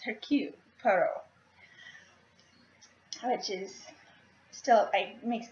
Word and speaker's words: Hercule Poirot: They pronounce it Hercules, which it's similar, but it's the French pronunciation of it. It's Hercule Poirot, which is still, it